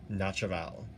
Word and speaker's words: naturel: I don't think you pronounce the M though. Okay, Logarithm Naturel.